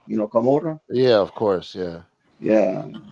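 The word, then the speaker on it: Camorra: It's camora. You know, kamura. Yeah. Of course. Yeah. Yeah. Yeah. People say Gamora, but it's a camora with the C, not with the G.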